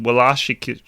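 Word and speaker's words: Wlaschiha: Well, if it's a W, it's pronounced as a V in the Germans.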